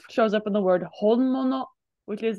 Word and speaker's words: 本物: So this shows up in the word honmono, which is like the original, the genuine article.